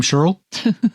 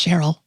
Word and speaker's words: Cheryl: When she gives Phil his coffee, he asks, "Is your name Sheryl?" "That's right," she says. Even though no one else pronounces it that way or ever will. It's Cheryl.